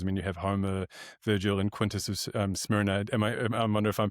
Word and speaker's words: Quintus of Smyrna: You have Homer, Virgil, and Quintus of Smyrna. I wonder if I'm pronouncing that correctly. You're right. Quintus of Smyrna.